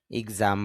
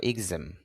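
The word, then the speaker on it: exam: এক্সাম, যদি আপনারা এক্সাম বলেন তবে শুদ্ধ উচ্চারণটা হবে এক্সাম। এক্সাম জ্বর উপরে স্ট্রেস হবে, মানে চাপ দিতে হবে, এক্সাম মানে পরীক্ষা।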